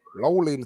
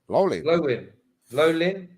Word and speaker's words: Llewellyn: Welsh name, isn't it? Lowlin Smith, Lowlin. Lowlyn.